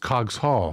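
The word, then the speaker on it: Coggeshall: uh prononciation thank you T plat cogs Hall just cogs Hall huh thank you also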